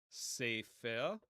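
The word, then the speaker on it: ספר: Sefer, sefer. So the consonants are samech, pe, but pe without the dagesh will make an F sound or a PH sound.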